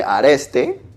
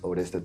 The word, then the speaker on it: Oreste: he told me oresto some people call me areste so it's either how people want to call you sometimes but but yeah the pronunciation you are doing perfectly is auresta thank you so much